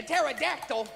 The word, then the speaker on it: pterodactyl: Why can you never hear a pterodactyl in the bathroom? Because the P is silent.